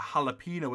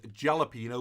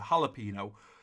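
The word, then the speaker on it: jalapeño: guys know what a jalapeno is some even I see it as jela piano boy I pronounced a jalapeno you can get them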